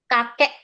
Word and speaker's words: kakek: We didn't pronounce K. Kakek.